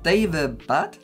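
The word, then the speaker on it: Daevabad: David Bat is how you pronounce it, by S.A.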